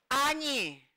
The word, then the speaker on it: они: Me, vi, añi. La O se pronuncia como A.